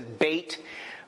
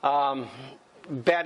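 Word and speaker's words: בית: bet. Or what some people say Beth. Here, this one says bait. But how you pronounce it, bet is usually what I've heard.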